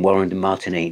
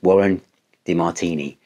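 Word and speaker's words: Warren DeMartini: you know from from Warren to Martinique is it's just sorry I said his name wrong then I'm in case Warren ever watches this Warren De Martini what a great guitar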